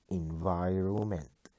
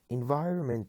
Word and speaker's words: environment: place number nine environment letter n is silent environment environment is a noun it